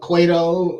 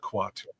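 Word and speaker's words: Kuato: I mean, you know, between Beldar, Cone Head, and uh Quato, you know, is get your ass. It's pronounced quatu.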